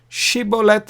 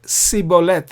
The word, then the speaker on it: Shibboleth: Shibboleth was supposed to be correct, whereas the Benjamites pronounced it wrongly. We read about it in the Bible. They pronounced it Sibboleth instead of Shibboleth.